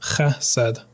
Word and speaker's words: chesed: The word is chesed, chesed, pronounced chesed.